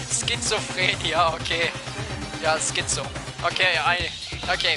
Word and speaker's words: schizophrenia: Dude, you're pronouncing it like it's a dog breed. Schizophrenia, okay.